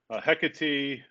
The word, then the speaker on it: Hecate: Hecate, it's hard to pronounce sometimes for some folks, but it's Hecate.